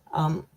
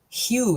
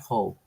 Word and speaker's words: Hugh: Hannah is from BC Hugh is pronounced like U it's not hoe see I'm I immediately